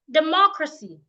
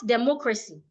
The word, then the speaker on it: democracy: Now I have a 3-syllabic word, which is pronounced democracy, not democracy.